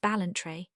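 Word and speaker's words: Ballantrae: It is called the master of balentry pronounced balentry.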